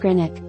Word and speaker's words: Greenwich: place names, namely, that of the W in the Wich suffix, which, as I understand it, is not enunciated.